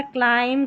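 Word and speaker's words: climb: पढ़ेंगे अब यहां पर जो बी है वह साइलेंट है और लास्ट में आता है क्लाइम कॉम थंब बी को नहीं पढ़ना है ठीक है 51 पर है टीसीएच इसको च पढ़ते हैं।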